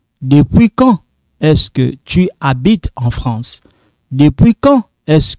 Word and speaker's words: habites: This H is silent, okay?